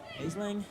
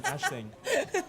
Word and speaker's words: Aisling: Good catch there by number 9, Aisling. Sorry. the Ashling. pronunciation, Ashling.